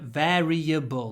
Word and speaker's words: variable: This is a word a bit like valley, where you need to pronounce a v with a smile at the beginning. Variable. So you need to really bite your lower lip and hold the v.